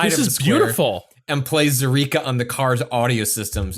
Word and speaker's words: Zaireeka: Zyrika. It's kind of phonetic. Zyrika. Zaireeka.